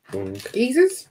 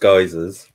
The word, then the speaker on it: geysers: Geezers? Are they geezers? Can you go in a geezer, or is that a bad idea? You can. I think they're normally pronounced geysers.